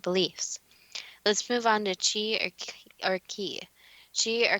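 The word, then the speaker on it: qi: Quote, "Ki or Chi, pronounced Chi, is the energy flow created along the pathways that connect the acupuncture points on the body.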